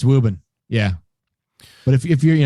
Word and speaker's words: Woburn: even though it's phonetically spelled Woburn it is pronounced wubird yep and you can kind of subtly drop VR most of the way like Ruben woven it's wubin yeah but if you're you know you're being